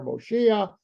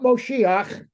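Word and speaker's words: מושיע: there is God desire moshia that's not moshiach that's a misinterpret mispronounced word of mashiach that's the that's the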